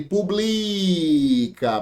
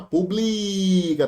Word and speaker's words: publica: Se a gente é tira o acento, fica ele publica paroxítona publica.